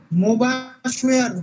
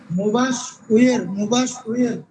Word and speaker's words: মুবাশ্বের: মুবাশ্বের, মুবাশ উয়ের। আপনাদের কাছে অদ্ভুত মনে হচ্ছে, তাই না? কিন্তু আসলে এটাই ঠিক।